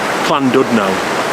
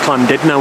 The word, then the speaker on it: Llandudno: we've reached pland Dillis not Clan duus I've already pronounced it wrong should have known really cuz it's not Clan do know it's Clan did know isn't it in Wells you pronounced the you is an i the name cland dilus